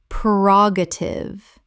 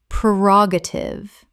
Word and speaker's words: prerogative: ubiquitous ubiquitous Word 256 prerogative common mispronunciation prerogative correct pronunciation prerogative four syllables with the stress on the second The first syllable is pre, not per.